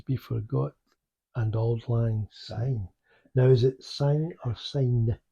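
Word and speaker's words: syne: I S sign it a lot of people pronounce it as if it's got a zed on it it's become but it's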